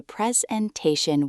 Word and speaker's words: presentation: Let's mark the stressed syllables. I think the presentation was fantastic.